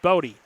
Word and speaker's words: Body: Bodie spelled body, but pronounced Bodie.